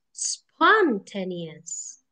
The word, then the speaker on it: spontaneous: Kita pindah depan, spontaneous. Juga aneh. That's why checking the pronunciation bisa juga loh sambil checking word stress. Lihat kalau di Google boldnya di mana.